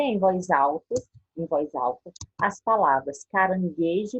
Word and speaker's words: caranguejo: Em palavras como gula, a letra U é pronunciada. Já palavras como guitarra e caranguejo, a letra U não é pronunciada.